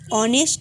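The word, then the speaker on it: honest: কেন এন বসবে বলতো যেহেতু এইচ আছে এইচ এর উচ্চারণ যেহেতু এর মত তাই এটা এইচ কনসোনেন্ট হওয়া সত্ত্বেও এর আগের দিকে এন বসবে তাহলে হবে হি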